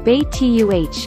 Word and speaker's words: betta: origin of the betta the bettas are also known as siamese fighting fish pronounced bait tuh the betta originates from